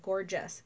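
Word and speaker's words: Gorjuss: London calm and it's called the gorgeous but it's spelled G Orr juss collection and it looks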